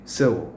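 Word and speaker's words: sew: snip snip snip snip സൗ എന്നിട്ട് അവര് പറയുകയാണ് സൗ എന്നാണ് ഉച്ചാരണം കേട്ടോ എസ് ഇ ഡബ്ല്യു എന്ന് പറഞ്ഞാൽ തുന്നിക എന്നാണ് അത് സൗ എന്നാണ് ഉച്ചാരണം സ്യൂ എന്നല്ല സൗ സ്യൂ ചില വെറൈറ്റി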